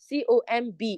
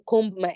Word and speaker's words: comb: Take note, the word COMB is not pronounced as comb. I want to comb my hair. It's comb, comb. The B is silent.